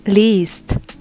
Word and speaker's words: liest: Lesen, ich lese, du liest. Khusus yang akhiran IE, ini tuh harus dibacanya lebih panjang.